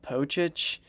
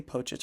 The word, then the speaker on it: Pocic: You got Pocic, or Posick, however people pronounce it. I say Pocic. I've always said Pocic.